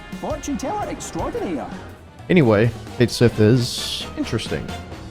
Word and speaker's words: Cait Sith: Twitter Warriors out there that's how it's said in the game so that's also how I will pronounce it Fortune extraordinaire anyway K Sith is interesting it's a